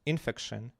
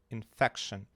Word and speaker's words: infection: So, this syllable stress, not infection, not infection, infection.